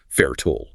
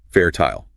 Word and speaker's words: fertile: Fairtool, Hangelstoll, Missole. Brits, on the other hand, enunciate the entire suffix clearly, rhyming it with the word isle, fertile, H-O-style, missile.